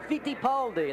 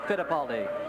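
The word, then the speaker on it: Fittipaldi: This week, the pilot Emerson Fitipali, that's how they pronounce it in his homeland, but here in the States, we call it Fidipali.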